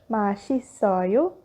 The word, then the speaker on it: 맛있어요: One more thing to note, if shiot and sang-shiot are followed by the vowel e, they become sh in pronunciation, like our previous example, 맛있어요, and another example, 아저씨, which means old man.